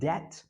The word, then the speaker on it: debt: انما الديت without B, the B is silent, the الدين. And usually we say I don't like to get into debt.